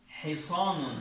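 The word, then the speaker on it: حصان: This letter ha, ha, ha, ha. Yeah, a little ha. Bit difficult. Okay, say ha, ha, ha, ha. Hisanun.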